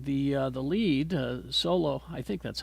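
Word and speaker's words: Xolo: and uh and the uh the lead uh solo I think that's how you say his name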